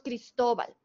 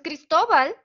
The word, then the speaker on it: Cristóbal: es grave muy bien porque tiene la sílaba tónica en la penúltima sílaba es todo entonces la